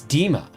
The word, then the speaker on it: Dima: The I in Dima is pronounced more like E, not I. Oh, so it's Dima.